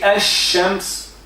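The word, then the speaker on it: الشمس: But when we say ash-shams, like ar-Rahman, without lam it is Rahman. So there is no shadda. Normally there is no shadda.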